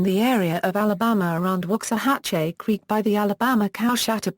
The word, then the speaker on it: Waxahachie: Waxahachie is the county seat of Ellis County, Texas, United States, and lies just beyond the southern suburbs of Dallas.